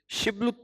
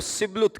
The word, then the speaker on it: شبلت: اگر وہ جواب دیتا نہیں تو وہ اس سے کہتے شبلت تو بول، اور وہ سبلت کہتا کیونکہ اس کا صحیح تلفظ نہیں ہو سکتا تھا۔ تب وہ اسے پکڑ